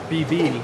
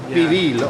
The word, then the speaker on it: pibil: Am I pronouncing that correctly? Pibil. Pibil, okay.